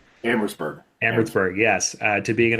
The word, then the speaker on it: Amherstburg: I know you've been an economic and policy analyst in and my apologies if I mispronounced this, but it's Amherstburg? Amherstburg.